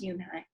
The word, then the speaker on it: Yoonhye: Yes, it's pronounced Yoonhye, and it means grace, Mr. Kim added. Yoonhye, Joey said slowly, and this time perfectly. It made Yoonhye smile.